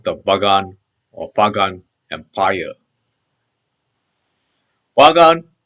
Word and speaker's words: Bagan: Bagan is the present-day standard Burmese pronunciation of the Burmese word Pugan, derived from Old Burmese Pukam.